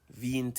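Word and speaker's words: veinte: a lot of people in a rush they pronounce it as V int it's not venti it's V in t they remember the E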